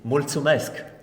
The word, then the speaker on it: Mulțumesc: Mulțumesc.